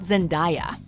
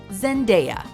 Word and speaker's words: Zendaya: contrary to popular belief her name is not zendaya in fact this name has caused so much